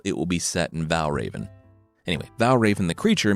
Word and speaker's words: Valravn: FM the creature this week is The Vow Raven from Danish folklore before we get started Val Raven it's spelled without the e By the way Val